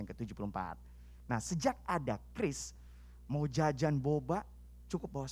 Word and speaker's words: QRIS: Mengenai Kris. Ingat ya, bacanya itu ya tulisannya memang tulisannya Qris gitu ya. Namun bacanya Kris teman-teman. Macam-macam soalnya. Saya sebelum kesini aja bacanya Qris.